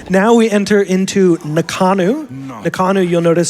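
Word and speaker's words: Ngakanu: Nakanu, you'll notice, spelled NG, N-G-A-K-A-N-U, and that NG sound is the same as the sound at the end of the word jumping. It's slightly different than the common English language N sound.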